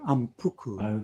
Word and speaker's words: Ampuku: But if you put them together, the sound is actually ampuku.